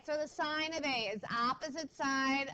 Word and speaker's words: sine: It looks, sine is spelled S-I-N-E. Okay, so what we're saying is sine, not sin. Okay, we're not sinning in math. We're doing the sine in math.